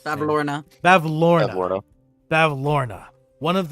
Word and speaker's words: Bavlorna: I always forget how to pronounce it. Bavlorna.